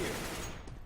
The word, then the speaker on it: Ryu: Hey, there's an American pronunciation and there's a Japanese pronunciation.